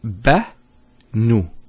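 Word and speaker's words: بنو: Now this is a pronunciation exercise from what we learned so far. So the first one is, it's Ba-nu.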